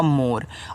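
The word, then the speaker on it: more: ओ से ओ की मात्रा मु आर से आपका र लास्ट में जो इ आता है उसका उच्चारण नहीं करते हो। ये आपका हो गया मोर और मोर का मतलब होता है अधिक।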